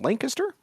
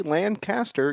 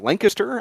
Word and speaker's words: Lancaster: The first one was down in Lancaster, Ohio, and that is the right way to say that city's name. If you say Lancaster, you're not from here. So Lancaster, I was down there.